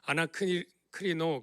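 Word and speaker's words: ἀνακρίνω: 이 상고는 저게 뭐 아나크리노 그렇게 발음하는 건데 상세히 연구하다, 조사하다 그런 뜻이에요.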